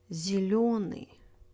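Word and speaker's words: зелёный: Letter yo is always stressed, except for some foreign compound words. Зеленый, береза, вертолет, мотылек. If you see yo, you know exactly where the stress is.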